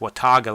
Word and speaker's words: Watauga: hill, going down to the, I think it's pronounced Watauga Lake, and that's right where the Boots Off Hostel is.